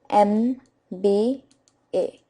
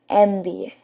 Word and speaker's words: MBA: b a so it's got M sound okay which means that a cannot be used with it because uh is used only with a consonant sound and over here we're getting a wow sound so we will use n with it so it will be an MBA okay friends similarly SMS so